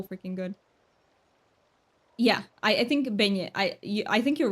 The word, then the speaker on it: beignet: Yeah, I think beignet. I think you're right. And the T is silent.